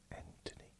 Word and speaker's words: Anthony: knocked out Anthony Joshua Anthony what do you mean? No, Silent H when he knocked down Joshua and defended his world title.